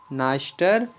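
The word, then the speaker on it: Dniester: इसमें भी डी का प्रोनाउंसिएशन नहीं किया जाता है और इसे बोला जाता है नाइस्टर रिवर।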